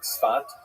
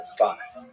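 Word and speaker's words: Safed: northern Israel city of Safet pronounced in Hebrew spat or spas.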